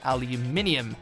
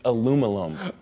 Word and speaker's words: aluminium: he had a lot of critics who wanted aluminium, more like magnesium. Say it again. Say it again. Aluminium. Okay, you say it. It's aluminum.